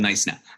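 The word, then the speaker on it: Knysna: is is to visit nice now so the pronunciation is silent and I got that right right it's called nice now that practice my pronunciation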